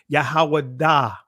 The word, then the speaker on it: Judah: what it says here based on the ancient pattern where each Conant is followed by the vowel sound ah a more accurate pronunciation of Judah in ancient Hebrew would be yahawah da wait whoa you notice what it says yahawah da come on brothers and sisters we've been saying that right yahwah da it says in ancient Hebrew the the name Judah will be pronounced yahawah da uh oh wait a